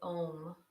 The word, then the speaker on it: Om: to use is a sound of ohm this is a blending of three sounds it's the OO or the a sound the O sound and the MM sound at the end so we go from an open mouth to a closed mouth with our exhalation and